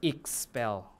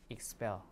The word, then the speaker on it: expel: be an s and since the stress is on the second syllable here we should pronounce it as expel like that okay expel okay so they both